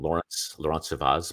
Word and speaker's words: Laurence Servaes: I'll bring on Laurence Servaes, and how do you say it? Laurence Servaes. I like that better.